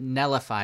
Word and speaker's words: Netlify: can you pronounce it nellify because i've had many people say i mispronounce it but i always just say really quickly nullify and you don't really hear the t but it says netlify